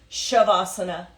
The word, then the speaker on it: shavasana: pose AKA corpse pose shavasana is spelled s i v shiv it has a sha sound even though there's no h SI IV as an a sasana pronounced shavasana Palms are up so